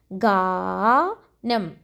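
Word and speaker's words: ഗാനം: Letter ga plus a sound, ga. Then na plus nam. Ganam.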